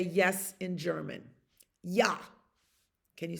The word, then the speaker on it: ja: Ja.